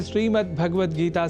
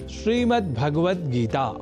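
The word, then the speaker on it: श्रीमद्भगवद्गीता: जैसा कि मैंने उच्चारण किया श्रीमद्भगवत गीता जिसे अनवधानतावश हम श्रीमद्भगवत गीता या श्रीमद् भागवत गीता या भागवत गीता कर जाते हैं जो सर्वथा अशुद्ध है।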